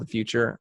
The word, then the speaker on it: The Futur: Then I started this other company called The Futur, and that's The Futur, and it's spelled The Future without an E.